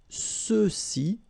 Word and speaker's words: ceux-ci: And then for the masculine plural, ceux-ci, okay, remember final X is not pronounced, so you get the sound ce, ceux-ci, and then ceux-là, all right?